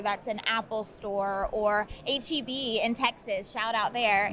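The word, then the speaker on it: H-E-B: Because I never knew whether you pronounce it Heb. Oh, yep, HEB.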